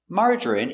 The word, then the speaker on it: margarine: J- strong J. Marger. Marger. I marerie. Margarine. Margarine. Margarine. Margarine. Three syllables. Stress only. First syllable. Mar.